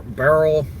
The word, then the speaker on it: Beryl: yeah back off Barrel some people pronounce this hurricane differently Barrel bar Barrel no they act it's it's Barrel it's Barrel yeah it's Barrel but I've seen say